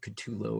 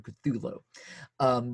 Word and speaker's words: Cthulhu: to pronounce it because it's supposed to indicate this unpronounceable word from another language, but most people pronounce it Cthulhu or Cthulhu.